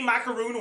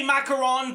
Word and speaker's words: macaron: Well, if the definition they give applies to both and they say macaroon once and macaron once, they should accept both like nah nah.